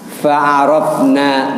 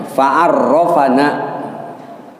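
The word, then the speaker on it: فعرّفنا: Fa'arafna, maka kita ketahui. Bukan fa'araf nih bacanya, fa'arrafana, maka Allah memperkenalkan kepada kita, memberikan supaya kita ketahui.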